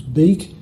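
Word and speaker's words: biik: shown on the left you can see bwkbak and b i i k be pretty obvious that the pronunciation was big and so that would get re-spilled in the IPA conventions as b i i k it comes up as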